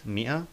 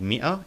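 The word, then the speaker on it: مائة: rocom means number and Mia means hundred as we can see the word Mia includes an alif but it's not pronounced the sword of Lamb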